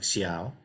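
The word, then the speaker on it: 小: And this is Xiao, pronounced something like Xiao, and it's just a character that means small.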